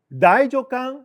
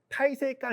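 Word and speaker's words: 太政官: 그 다음에 새 합백은 나나주로권에 1876년에 보면은 나이조강 시레이 주고고 태정관 시레이 지령 주고고. 태정관도 읽기 어려워요. 나이조강이라고 읽어야 됩니다. 타이세강 이렇게 일본 차례도 그렇게 읽는 사람 되게 많은데 고유명사일 때 나이조강 제도입니다.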